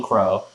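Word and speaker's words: Qrow: yeah, their Uncle Crow, spelled with a Q, not Jim.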